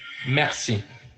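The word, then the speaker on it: merci: going to go to Mery thank you is Mercy yeah but I want you to type it even though I said it it's a whole different thing to type it and to say it Mercy even I knew this one I know right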